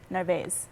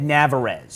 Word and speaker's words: Narvaez: Narvaez. Narvaez. I would have said Navarez. That's what I thought it was. That's what was on the tip of my tongue was to say Navarez, but I was like, it's not Navarez.